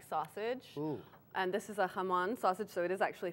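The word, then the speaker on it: jamón: and this is a hamon sausage so it is actually from Spain as well Haman spelled because it's Spanish spelled with a J I bet that's right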